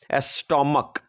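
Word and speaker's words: stomach: लिए ईस लेता है लेकिन जब सीच का उच्चारण को हो क्या हो को हो तो केवल एस लेता है तो पढ़िए इसे स्टमक तो सीच को क्या पढ़ रहे हो क तो जब भी सीच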